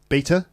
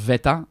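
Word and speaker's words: βήτα: Beta? Yeah, but I think it's pronounced veta, and then gamma is the third letter, which is G.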